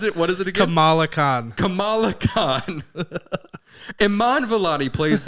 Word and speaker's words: Kamala: Like Kamala Harris. They're different pronunciations.